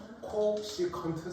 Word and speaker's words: 코시컨트: 배다 썼겠습니까 겠죠 자 우리 csc 섹터를 뭐라고 읽을 거냐 지금부터 코시컨트 섹터 코시컨트 섹터 코시컨트 세터 코시컨트 세라고 읽을 거야 지금은 줄어든 거야 예전에는